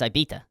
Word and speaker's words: Ibiza: Ibiza. It's not Izza. Anyway, it's IA.